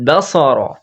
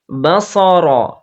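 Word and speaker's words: الْبَصَرَ: ইল ফারজেইল বাসারা হ্যাঁ এখানে বাসারা যদি না হয় খেয়াল করবেন আপনারা বাসারা হবে না সিন নেই ওখানে কি আছে সদ আছে সদ বলতে কি করতে হয় জিহবার পেছনটা ওপরের তালুর তালুর যে কি আছে নরম অংশ আছে ওই অংশতে লাগিয়ে বলতে হবে এখানে আমরা দম ছাড়বো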